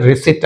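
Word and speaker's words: receipt: Second one, రిసిట్ అంటే P is silent, మనం ఏమనాలి? ఓన్లీ రిసిట్ అనాలి, రైట్.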